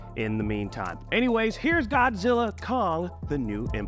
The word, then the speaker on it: Godzilla x Kong: this it is just Godzilla Kong the new EMP the new Empire the x is silent is that right uh that's right you